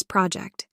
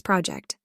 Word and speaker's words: project: As a verb, it's project, 2nd syllable stress, and it means to estimate, to guess something about the future.